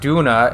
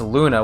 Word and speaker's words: Luna: calling the cat doona the cast's not Duna it's Luna with an L but they weren't saying